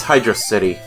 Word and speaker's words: Hydrocity: Yeah, this is Hydro City. It's Hydrocity. Tomato, Hydro City, Hydrocity. It's Hydrocity. It's a hard C.